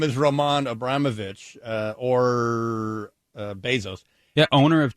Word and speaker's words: Abramovich: Abramovich? Yeah. You want to try to spell that for me? Abramovich. Oh, perfect. Like Abram, not Abraham, but Abram, O-V-I-C-H.